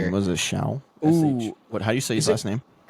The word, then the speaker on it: Shough: Was it Shao? Ooh. SH. What? How do you say his Is it- last name? Oh, Kirky. How do you say that guy's last name? Shough.